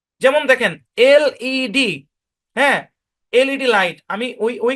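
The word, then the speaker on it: LED: section টুতে দেখাইছিলাম তো প্রনান্সিয়েশন রুল অনুযায়ী এটার উচ্চারণ হওয়ার কথা ছিল লেড কিন্তু এটার উচ্চারণ লেড হবে না ভাইয়া কারণ এটা একটা এব্রিভিয়েশন হ্যা এখানে আমাকে কি করতে হবে প্রত্যেকটা ক্যাপিটাল লেটার আমাকে স্পষ্টভাবে উচ্চারণ করতে হবে বলতে হবে এলইডি এই যে বললেন যে আজকে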